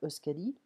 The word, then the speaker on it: Euskadi: Je ne parle pas le basque, donc j'espère que je le prononce bien, Euskadi.